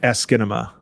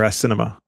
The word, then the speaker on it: asciinema: I would probably pronounce that something like Askinema or Asinema. The website actually has it's spelled out. It's ASCII NEMA, NUMA, or ASKEE, then NUH, then MEH for the MA.